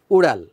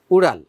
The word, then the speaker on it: উড়াল: এই ড বিন্দু র, এটা উচ্চারণ করতে অনেকের একটু কষ্ট হয়। তো শব্দটা হচ্ছে কি উড়াল। এখানে হসন্ত আছে, ল হসন্ত, উড়াল, উড়াল, উড়াল।